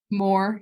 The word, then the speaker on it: Moher: Moher, yeah.